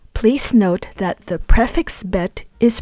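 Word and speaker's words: בְּ: But when in a context where it means in the, by, or by the, we pronounce it as ba.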